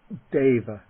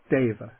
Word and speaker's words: deva: way okay the word for a god is deva deva and the o is pronounced like o the word meaning he is